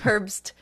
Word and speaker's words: Herbst: It's by the Herbs. Herbst. With a T at the end. Oh, with a T. I see. Okay. Like Herb Street, but all one word.